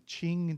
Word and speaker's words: Qing: up later yourself but this is one I looked up so it's called the Qing Dynasty that's how that that's uh pronounced uh the Qing dynasty